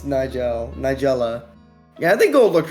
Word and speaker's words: Nigella: I almost mispronounced that myself. It's Nigella.